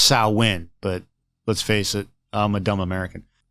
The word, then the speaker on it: Samhain: I said Samhain wrong, and I apologize. It's not Samhain. Samhain. So it should be pronounced Samhain, but let's face it, I'm a dumb American.